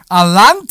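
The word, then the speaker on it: Allanté: Alante, right?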